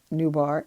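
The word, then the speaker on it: Noubar: ventures it's ceo nubar afiyan um i'm gonna spell that newbar n-o-u-b-a-r last name af-yen a-f-e-y-a-n tried to get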